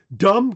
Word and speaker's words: dumb: There's lots of silent Bs. In most of the case it in most of the case they they were they were they were pronounced that way. Dumb comes from the Old